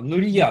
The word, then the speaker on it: Нурия: Нурия на последнем ударении, я просто вижу вас уже, вы были на предыдущем занятии и вижу, да, довольно активный в чате. Вот, а что вам кажется самым трудным? Да, вот за гранью. Вот что вам кажется самым сложным и непонятным в написании сценария? Почему вам кажется, что это за гранью? Так, пришла попробовать. Вот знаете еще, Нурия, да, ударение на я, значит все правильно я.